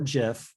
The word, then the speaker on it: GIF: or a gif which can be pronounced gif or jif doesn't matter um loading as gift